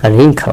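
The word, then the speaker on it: wrinkle: রিঙ্কেল, রিঙ্কেলের ক্ষেত্রে একই, ডাব্লিউ এর উচ্চারণ হবে না।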